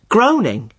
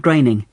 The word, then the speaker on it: Groening: I always thought it was pronounced Groening. Well, I did too, for a long time. But no, it isn't. It rhymes with raining. Matt Groening.